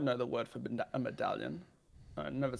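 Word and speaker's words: medaljon: Oh, so soft J, right? It would be pronounced medallion. Oh, okay. And I presume that's got to be that way to fit in with the conventions of the language. Yeah, the L and the J are yeah. Okay. When you combine an L and a J, it's pronounced as ye.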